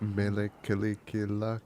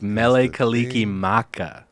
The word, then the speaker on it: Mele Kalikimaka: other's songs so good it's not Mele kalikilak it's Mele Kalikimaka Mele Kalikimaka is the